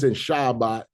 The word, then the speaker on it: Shabbat: But we our English speaking, we say Shabbat, you know, a shabat. So if you do hear others when it shabot is because they're they're using grammar rules to pronounce these words.